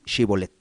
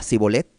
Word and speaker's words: Shibolet: Si él respondía no, entonces le decían, ahora pues di Shibolet. Y él decía Sibolet, porque no podía pronunciarlo correctamente.